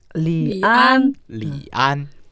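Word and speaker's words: 李安: 이안을 성조를 살려서 읽으면 어떻게 되나요? 리안. 리안.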